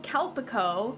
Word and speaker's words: Calpico: It is I believe it's pronounced it's a Japanese drink. It's called Kalpico. C A L P I C O. I think that's how it's pronounced.